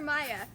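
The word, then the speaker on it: Maja: Yeah, his sister was named Maria, but they called her Maya, spelled with a J.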